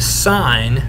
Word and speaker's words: sine: we can take the sine of theta i know it's spelled sin but it's pronounced sine we can take the